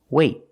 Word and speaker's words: wait: But what if the T is at the end of the word, and before T you have a vowel, then we do a stop T.